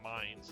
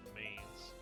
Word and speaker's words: Mainz: It's Mainz, not Mainz. Now that I know it's German, I have to correct this in my brain for the proper, like, pronunciation.